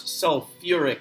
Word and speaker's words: sulfuric: for this is sulfate this one's a little weird because it's sulfate but it's sulfuric acid right you actually add that syllable back that's okay but that